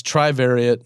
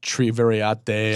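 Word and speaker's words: Trivariate: and follow your stuff so it's Tri variat not triar I should I should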